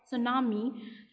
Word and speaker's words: tsunami: The term सुनामी, T always silent रहता है students.